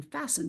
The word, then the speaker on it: fasten: We can notice that even though we pronounce the T in the word fast, we don't pronounce it in fasten, but it's still there